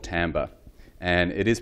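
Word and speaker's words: timbre: left over what's left is a thing called tambor and it is pronounced Tambor and I really love this definition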